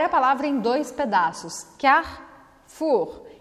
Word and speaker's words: Carrefour: Em francês, a gente come esse E, tá? E o R é arranhado. Então fica Carrefour, Carrefour. Você não vai pronunciar o E no meio da palavra, porque ele não tem acento, não tem nada. A gente chama ele de E pelado, então vamos fazer ele desaparecer.